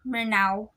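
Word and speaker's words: Maranao: of the following vowels the marino pronounced their ethnolinguistic group's name as mernau and prefer the spelling meronau or miranao marana greetings assalamu alaikum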